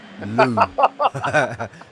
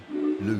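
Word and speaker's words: Looe: No, Lou. L O O E. Lou. Okay. Pronounced even differently. I only heard lose.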